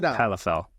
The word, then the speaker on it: Calafell: to make sure I'm getting your last name pronounced right cafel or califl just say the way it sounds Calif Calif cell all right Danny califl welcome welcome now Danny